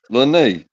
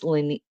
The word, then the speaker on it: Lene: Yeah, Lene. Is that how you say it? Well, you could say it any way you want to, because you got pretty eyes. But how I pronounce it is Leany.